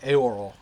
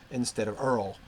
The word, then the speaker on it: Eorl: I believe my own Anglo-Saxon training was to pronounce according to the Wessex. So that's how I tend to do it. I will say, as you heard me say, Eorl instead of Earl.